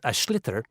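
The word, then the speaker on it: sliotar: basically you have to get this ball called ash litter that's SL IOT a or so it's not spells the way it's pronounced you his ears into the net for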